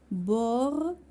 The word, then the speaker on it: bord: verbe gaspilleur or tort bord d'or هادو كلهم d'or T ne se prononce pas D ne se prononce pas T ne se prononce pas tort bord d'or.